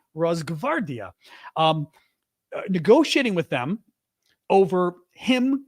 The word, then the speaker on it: Rosgvardia: I can never pronounce this word because it's got funny lettering. Rosgvardia. It's GV. G as in George, V as in Victor. Rosgvardia. Try saying it yourself. The GV. Rosgvardia.